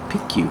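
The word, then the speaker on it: Piqua: place called U Ohio p-i-q-u-a pick you I think that's the way you pronounce that's it Ohio that's where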